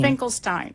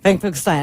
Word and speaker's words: Finkelstein: Her name is Finkelstein, and she has been, is that Stein or Steen? Finkelstein. Finkelstein. I am saying it correctly.